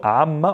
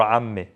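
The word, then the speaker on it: عمة: It is silent when it's on its own, but when there's possession involved, we pronounce it, okay? So on its own, amma or amme. I just added an a or a sound to this.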